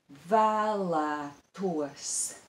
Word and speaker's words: vēlētos: And in this word, the broad vowel ā, which is broad and long, appears twice, in the first and in the second syllable. That will be challenging, as well as we have the diphthong o.